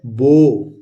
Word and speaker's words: bow: तो BOW, तो BOW ये होता है बो। बाउ नहीं होता है, ये होता है बो। बो मतलब धनुष।